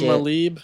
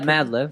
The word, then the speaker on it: Madlib: Malib. How do you say it? Yeah, Madlib.